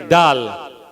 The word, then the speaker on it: dal: When you go to any restaurant, they're selling dal puri. How do you spell dal puri? Tell me. How do you spell dal puri? Incorrect. We say it correctly, dal, but we spell it wrongly.